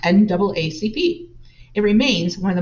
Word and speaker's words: NAACP: advancement of colored people or the naacp pronounced naacp it remains one of